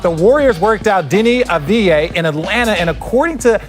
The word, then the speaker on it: Avdija: First up, the Warriors worked out Deni Avdija in Atlanta, and according to the Athletic's Ethan Strauss, they were blown away by him.